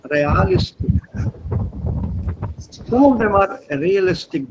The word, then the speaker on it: realistisch: Read this as real. This is a German pronunciation, not real, sondern realistisch.